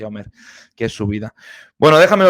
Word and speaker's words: Omir: about her life no omer what is life omir what is omer is pronounced omer which is her life Well leave it all